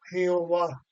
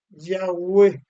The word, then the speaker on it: Jehová: la letra vocal al final A está diciendo Jehová. Algunos dicen en vez de Jehová, Yahweh, por la pronunciación que se tienen, pero esas pronunciaciones son incorrectas.